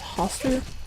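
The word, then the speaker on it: Hastur: I'm pretty sure last time I said it wrong and I think it's Hoster is the king you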